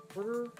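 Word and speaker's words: Quartr: I wonder if you can it called quarter. It's not spelled like spelled like the Yeah, it's Q U A R T R. They get rid of the E.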